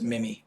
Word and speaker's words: Mim: her family and their their pronunciation is mim oh MIM Parker MIM just